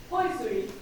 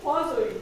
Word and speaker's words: Poiseuille: And the pronunciation, if I do this right, is Poiseuille. No, Poiseuille. I'm sorry, I practiced but in French it's a little bit more complicated.